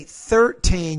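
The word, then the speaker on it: thirteen: had a 13 person when you say 13 you have to put your your tongue between your teeth pronouncing as a interdental consonant 13 three through very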